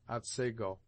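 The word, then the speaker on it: Otsego: Thus the scene of this tale is spelled at seiggo and is properly pronounced at sego.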